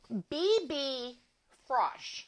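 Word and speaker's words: BB Frösch: product i'm sponsored by it's bb frosh i guess that's how you say it it's f r o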